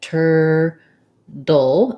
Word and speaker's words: turtle: turtle turtle is that they turn this t into a flap so it's more like a d so it sounds like tur dull this l e is a dark syllabic l so there's kind of a little tiny hidden schwa in there like an uh sound but mostly i go right from my flop to my l turtle this is something that